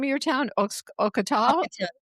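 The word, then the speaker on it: Ocotal: I'll Maybe we'll grab a coffee, and How do you pronounce the name of your town? Ocotol? O C O T A L. Ocotol. Okay. Ocotol.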